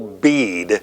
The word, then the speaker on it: Bede: man is, this Venerable Bede, and it looks like it might be in English BD, but they do not pronounce the E. It's the Venerable Bede, as in B-E-A-D.